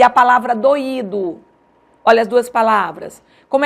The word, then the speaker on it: doído: a diferença pela acentuação em doido eu não acentuo eu pronuncio como de tongo em doído eu acentuo o i e aí eu pronuncio como iato certo esse assento ele é